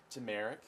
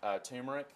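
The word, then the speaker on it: turmeric: yeah that you mentioned earlier say it again tumeric yeah I think some people pronounce it tumeric but I call its America I think you've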